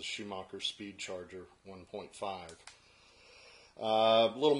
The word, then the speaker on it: Schumacher: Some people may pronounce that Shoemaker, but this is a Schumacher Speed Charger 1.5.